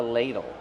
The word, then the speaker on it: ladle: ladle this is a ladle how do pronounce Ladle Ladle use a long a sound like pay and say l Ladle use a fast d and a short sound o like in table Ladle Ladle this is